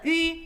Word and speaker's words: ü: It's not pronounced U, as in you and I, but Ü, as in the vowels of the word sweet mushed together.